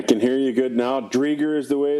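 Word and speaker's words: Driedger: Drieger is the way it's pronounced, so we got 2 check marks going.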